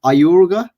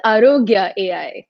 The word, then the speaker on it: Aarogya: and today we have praty the ceo of ayuruga am i pronouncing that right it's arogya arroga could you tell us the vision and